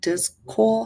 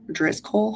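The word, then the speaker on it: Driscoll: in this product at all also um uh dis Cole hopefully I'm saying it DZ coal hopefully I'm saying it correctly is d r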